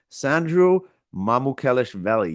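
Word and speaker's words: Sandro Mamukelashvili: Shams Charania announced a free agent forward/center Sandro Mamukelshvili.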